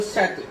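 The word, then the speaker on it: château: अब इसको हम अगर, ये फ्रांस वर्ड है, इसका मतलब होता है महल, अगर फ्रांस का प्रोनाउंसिएशन बोले तो सैतु, सैतु इसका मतलब होता है हिंदी में महल, राइट, इंग्लिश में पैलेस।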